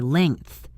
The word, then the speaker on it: length: The correct pronunciation holds the NG together as one sound, like in the words sing or ring or bring, and then the TH follows naturally.